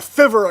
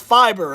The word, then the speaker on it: Fiverr: and i said a fiverr account and the trolls came out they said you idiot it's pronounced fiber and i'm like wow you guys are so intelligent a fiverr account and at 15 years